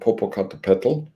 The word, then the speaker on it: Popocatépetl: So Xochipilli was dug up on the slopes of Mount Popocatépetl, spelled like it sounds, second highest volcano in Mexico, home to an indigenous variety of mushroom that's found on the slopes of the volcano.